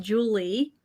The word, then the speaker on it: Julia: The first name is actually pronounced Julie because my parents named me Julia and they decided to call me Julie.